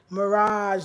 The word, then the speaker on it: Mirage: you've been for sure I pronounce my name Mirage like the desert I love it Mirage thank you I'm so